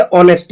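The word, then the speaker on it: honest: जैसे ऑनेस्ट है, ठीक है, अब ऑनेस्ट में कुछ ना कुछ मिसिंग है, मैंने कुछ लेटर है जिसको रीड नहीं किया ऑनेस्ट में, ठीक है, तो आप उसको क्या करोगे सर्कल बना दोगे।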